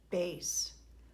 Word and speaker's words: bass: bass drum I remember the word bass looks like bass but a bass is a fish it doesn't belong in music class so we use it as an Italian word and we pronounce it bass we're almost done up